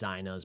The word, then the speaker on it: Zeina: So it is pronounced Zeinas, but a lot of people say Zeinas or even Zainas.